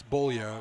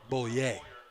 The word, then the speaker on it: Boulier: bailey is gang tackled cooper boulier makes the play now probably people saying well that's bullier well i'm a frenchman i pronounce it bullier mount blue will have